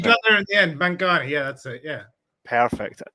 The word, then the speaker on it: Mantgani: right Ian you got there in the end manang yeah that's it yeah perfect that I always worry I've heard much worse pronunciations than that oh that's that makes me